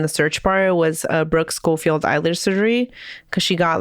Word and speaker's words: Schofield: Oh, Brooke Schofield or Schofield. I do realize I was saying it wrong.